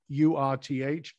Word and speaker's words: Urth: So I'm really interested in your solution around this with what you're doing with URTH. Urth is the right way to pronounce it?